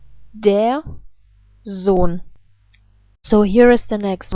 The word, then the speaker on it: Sohn: The rules are that vowels and umlaute are always pronounced in a long way, if they happen before an H and H. And in this case, that is the case. And for this reason, the O is not pronounced like O, but like O. So the rest of the letters, I guess, are pronounced in the same way like in English. So let's put this all together. Der Sohn. I repeat, der Sohn.